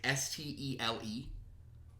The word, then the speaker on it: stele: The steel, I guess you pronounce it. Stele. Yeah, steel.